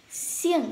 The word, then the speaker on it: 姓: Xiềng, xiềng, thanh bố mình đọc là xiềng, mạnh xuống.